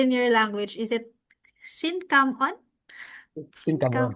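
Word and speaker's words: xin cảm ơn: Is it Xin Kam On? Xin Xin cảm Kam ơn. On? Yeah. Xin Kam On?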